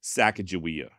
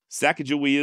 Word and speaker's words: Sacagawea: choose to just go ahead with the classic sack ofia not because I'm necessarily married to that particular pronunciation but in all honesty it does make my life a little easier saaka jaia is the way I've always been saying her